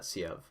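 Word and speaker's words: Sieve: I'm pretty sure you pronounce that Siev.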